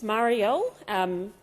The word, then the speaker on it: Marielle: It's Marielle. Senator Henderson, through the chair, through you, Chair. That's how you say my name.